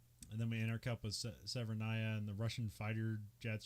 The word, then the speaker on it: Severnaya: Keep on saying Severnaya, but Severnia. Oh. Which one is it? Yeah, hold on. Let me dun, dun, dun, dun, dun. Yes, Severnaya. Just say Severnaya.